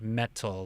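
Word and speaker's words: Meddle: Metal is spelled M-E-D-D-L-E, not metal like M-E-T-A-L, but M-E-D-D-L-E, Metal.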